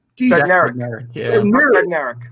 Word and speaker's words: Bednarik: Is it Bednarz was the middle linebacker back then? Am I saying it right, Keith? Bednarik, yeah.